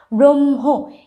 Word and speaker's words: ব্রহ্ম: একটু খেয়াল রাখতে যেরকম ব্রহ্ম এখানে হ ঠিকই আছে কিন্তু হ এর থেকে ম এর প্রাধান্য বেশি ঠিক আছে ব্রহ্ম ম